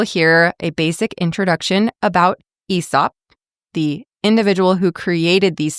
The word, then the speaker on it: Aesop: Um, I'd always said Aesop. It's spelled A E S O P. But according to Cambridge and Merriam-Webster dictionaries, it's pronounced Aesop, so it rhymes with treetop.